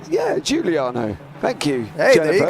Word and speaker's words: Giuliano: Jennifer Giuliano. Yeah, Giuliano.